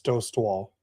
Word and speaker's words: Dostal: And by the way, Dad, you have to say it right. It's Dost Wall.